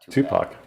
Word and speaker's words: Tupac: Oh, by the way, Hoosier, it's pronounced Tupac, not Tupac.